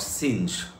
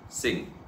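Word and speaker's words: Synge: to pronounce the dramatist name as John Millington singe my dear friend the pronunciation is not singed the pronunciation is J M John Millington Singh number two the first thing first what does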